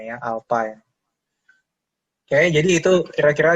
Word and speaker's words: alpha: Kalau di percepatan itu simbolnya A, kalau di percepatan sudut ini simbolnya alpha, membacanya ya, alpha ya.